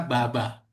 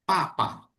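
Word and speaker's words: 爸爸: Ya, makanya kalau ayah dalam bahasa Mandarin itu bukan dibaca baba, tapi dibaca menjadi papa. Loh, kenapa papa, Lause? Kan tulisannya B, Lause. Kenapa dibaca papa? Karena penulisan konsonan B, pengucapannya jadi P.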